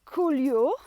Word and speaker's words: coulure: very simple to pronounce cool you'll which is poor fruit set just go cool as in I'm really cool or my vines are really cool cool okay here you